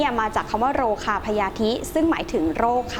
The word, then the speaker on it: พยาธิ: เอง ค่ะ คำ ว่า พญาธิ นะ คะ อ่าน ออก เสียง ว่า พญาธิ ค่ะ ซึ่ง บังเอิญ ว่า ไป